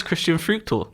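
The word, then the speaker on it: Christian Früchtl: How would I pronounce that name? Oh, it's Christian Fruchtel. Fruchtel.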